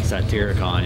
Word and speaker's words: Satyricon: I can't pronounce it. I'm sorry. Satyricon? Satyricon, yeah.